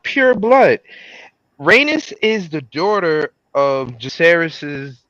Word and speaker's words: Rhaenys: Oh, she's Rhaenys.